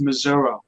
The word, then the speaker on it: Missouri: Louis, anywhere else in Missouri, it's pronounced Missouri.